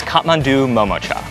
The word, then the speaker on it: Kathmandu MomoCha: Although their dumplings are undoubtedly delicious, pronouncing their name isn't easy. It is Kathmandu MomoCha.